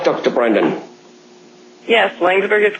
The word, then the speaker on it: Laingsburg: Did I pronounce that right, Dr. Brendan? Yes, Laingsburg is correct.